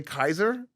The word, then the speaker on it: Caesar: So, when the Germans say Caesar, they have the pronunciation correct because the Germans knew how Latin was pronounced.